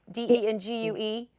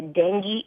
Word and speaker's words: dengue: heard the word said out loud can you pronounce that correctly for me the d-e-n-g-u-e yeah dengue dengue fever okay so i guess that was